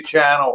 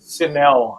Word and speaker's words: Chanel: So you, Mallory and Rosie, and another of my favorites, Sophia Channel, are important. Yeah. So Chanel, I guess I was saying it wrong for her, Sophia Chanel, and she's the younger side of being trans.